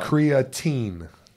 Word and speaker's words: creatine: Creatine. Is creatine is how you pronounce it. Teen. T-E-E-N.